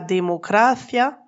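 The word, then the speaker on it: democracia: On dira la panaderia pour la boulangerie avec un accent sur le i, mais on parlera de la démocratia sans accent sur le i pour dire la démocratie.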